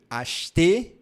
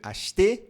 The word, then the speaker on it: acheter: Algo interessante sobre esse verbo é que quando nós falamos bem devagar, nós pronunciamos acheter. acheter. Que aí tem o biquinho aqui, ó. Acheter, acheter. Porém, na vida cotidiana, a gente não fala devagar desse jeito. A gente fala rápido.